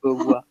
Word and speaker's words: Beauvoir: Beauvoir. Pero para pronunciarlo bien se tienen que tapar la nariz, si no, no tienen el acento.